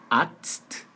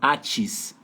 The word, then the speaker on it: Arzt: A pronúncia de médico está entre aspas aí, que é Arzt, Arzt. Primeiro você faz Arzt e depois um T mudo no final.